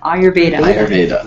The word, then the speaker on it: Ayurveda: your ire i still have a hard time ayurveda ayurveda so what would you like to talk